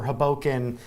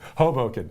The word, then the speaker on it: Hoboken: you would go over hoken uh through the um subway system hold how did you pronounce that hoken Hoboken Hoboken I did that wrong that was a Chicago